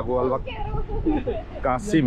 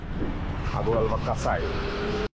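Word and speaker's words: Agualva-Cacém: আমরা এখন যে এলাকাটিতে আছি এটির নাম হচ্ছে আগুয়ালবা কাসাই। অর্থাৎ আমি প্রথম যখন আসছিলাম তখন আগুয়ালবা কাসিম এই টাইপের একটা উচ্চারণ করেছিলাম, বাট ওরা বলে এটাকে আগুয়ালবা কাসাই।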